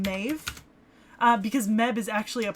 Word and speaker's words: Medb: ] ah yes queen meb all right well okay so we've been saying queen meb right but it's actually phonetically closer to queen maeve because meb is actually